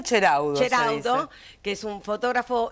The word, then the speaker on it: Ceraudo: ¿Cómo se dice, Miriam? En italiano, Ceraudo.